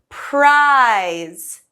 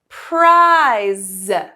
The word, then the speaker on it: prize: price is silent and the e in prize is silent okay so price and prize